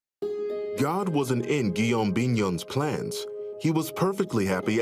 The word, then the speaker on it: Guillaume Bignon: Well, Guillaume Bignon, did I say it right?